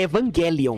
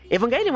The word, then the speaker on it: Evangelion: A propósito, é Evangelion, não é Evangelion, certo? Se você lê em japonês, o tequinho aqui tá escrito Evangelion, tá? A pronúncia certa é essa, vamos se lascar.